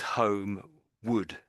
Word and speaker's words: homeward: perhaps, we we put we say is homewood w o d. We pronounce it that way.